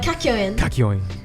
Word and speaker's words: Kakyoin: we meet kakioin um how do you all feel about kakeoye that's how you say it yeah how do you think it said yeah like kakyoin it doesn't help that